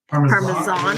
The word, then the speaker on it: Parmesan: So apparently, the Brits and the French pronounce it with a Z. Parmesan.